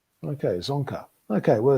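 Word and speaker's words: Dzongkha: yeah okay okay well so you don't pronounce the d is that correct yeah it's correct okay zonker okay well it's i guess that's the tricky bit so zonka okay and what uh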